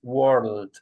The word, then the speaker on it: world: And this one is world. You have to pronounce the L.